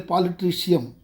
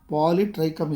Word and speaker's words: Polytrichum: Some students their polytricium pronunciation they write polytricium. Polytrichum is the correct pronunciation.